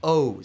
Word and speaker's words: Oz: Mine was still the original pronunciation. So it's O's. Sounds O's. like somebody owes you money.